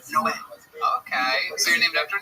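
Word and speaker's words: Noé: Like in the Bible, the Spanish translation, it's Noe is Noah, but it's pronounced Noe.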